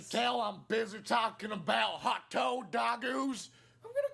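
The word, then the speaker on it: ホットドッグ: hot dog Hot dogs in Japanese are pronounced as hotto dogu.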